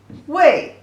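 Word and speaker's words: 未: This character pronunciation, a wei, means future, or I'm not come yet, not done yet, is a negative word, means that you have not done it.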